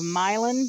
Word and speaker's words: Milan: have joined the um area of milin Missouri spelled like Milan and uh we still